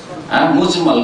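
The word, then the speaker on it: مجمل: ভুল করে অনেক উচ্চারণ করে মুজাম্মাল না, একই রকম করে উচ্চারণ করে, কিন্তু আসলে মুজাম্মাল না, মুজমাল।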